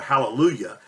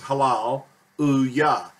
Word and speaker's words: Hallelujah: the phrase h H well most people say hallelujah but it's actually pronounced correctly as Halal UAH the yah being these last two letters and